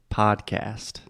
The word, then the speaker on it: podcast: American English we say podcast so the first vowel sound again is the ah sound just like podcast podcast I hear almost